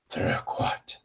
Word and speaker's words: troquat: I find that growling makes it easier to say the French R becomes more natural when you growl.